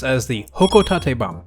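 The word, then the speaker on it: Hocotate: This item is pronounced as the Hokotate bomb using the Japanese-based pronunciation which we can hear echoed by Pelatina like this.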